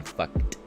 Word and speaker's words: Feucht: So I've just been making memes about this fucking douchebag, this Sean Feucht is how you pronounce his name.